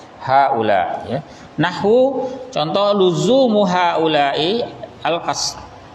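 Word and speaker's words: هؤلاء: Jadi lafaz haula itu selalu, ya, berharokat kasrah. Haula'i. Ya, taqul, Anda katakan misalnya contoh nomor 1. Hadara haula'i. Ya. Telah hadir haula, ya, orang-orang, ya, orang-orang itu sudah hadir. Bacanya dengan haula'i. Nanti contoh di bawah lagi,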